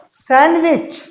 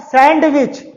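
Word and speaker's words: sandwich: लेकिन आपको रूल ध्यान रखना है, जब एन के बाद डी आए तो डी साइलेंट हो जाता है, तब ये क्या प्रोनाउंस किया जाएगा, सैंडविच, नॉट सैंडविच, सैंडविच, सैंडविच।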